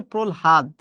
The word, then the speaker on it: প্রহ্লাদ: হচ্ছে আলহাদ বা আলহাদি প্রহ্লাদ উচ্চারণ হচ্ছে প্রহাদ আমি উচ্চারণগুলো দেখিয়ে দিলাম